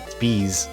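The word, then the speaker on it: Beas: I mean, how else am I supposed to pronounce that? It's Bees.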